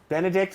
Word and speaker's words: Benedict: Benedict, like the egg dish.